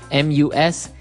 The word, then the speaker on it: mustache: And also the spelling can be a little bit difficult to understand how you pronounce it because it's M-U-S-T-A-C-H-E.